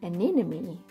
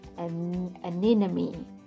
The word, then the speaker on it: anemone: Many people struggle to say the word anemone, but actually it's got the name Nemo, anemone. So that's how you can remember how to say it, how to spell it. It's because Nemo lives in anemone, anemone.